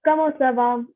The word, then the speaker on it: comment ça va: And it's not sava, it's not kava, it's sava. So kamo sava or kamo televu. I am not pronouncing the S at the end.